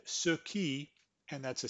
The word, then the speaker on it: ce qui: if you agree that when the person pronounces ce qui, he actually says ski. Our ear actually hears ski. So let's play that. C'est que alors ce qui est fou c'est que